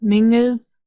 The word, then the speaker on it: Mingus: So if you say thing is, and then just replace the th with an M. So thing is, Mingus.